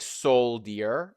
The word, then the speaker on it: soldier: hmm It looks like soldier, but it is pronounced as soldier. Soldier.